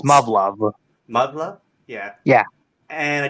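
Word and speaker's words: Muv-Luv: I think it's pronounced Muv-Love.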